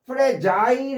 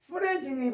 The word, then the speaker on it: fragile: fragile 해도 되고요. 프레자일 해도 발음이 됩니다. 프레자일. 보통 박스에 프레질이 많이 쓰였죠. 프레질 해도 되고 프레자일 해도 돼요.